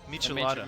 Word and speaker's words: Michelada: You haven't been introduced to Say Michelada? those letters again. Michelada. Michelada. It's like it's like Michelada? Michelin I've had an enchilada.